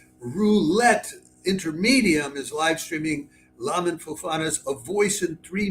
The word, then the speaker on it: Lamin: to call him, then we have Lamin, or Layman, but I would pronounce it Lamin, I think, Fofana.